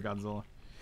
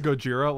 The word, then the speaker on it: Gojira: keeping oh you're not sorry godzilla uh it's pronounced gojira let's not be racist